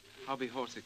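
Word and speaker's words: hobbyhorsical: And will you pronounce it? Hobby horsicle.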